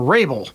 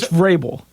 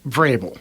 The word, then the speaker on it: Vrabel: Coach Vrabel. Okay. Vrabel. Yeah. Thank you. With the V. You have to pronounce the V.